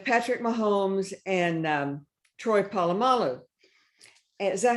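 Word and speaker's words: Polamalu: it was with Patrick Mahomes and um Troy palalo is that how you say his name yes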